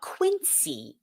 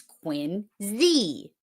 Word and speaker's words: Quincy: Quincy is not Quincy. It's Quincy.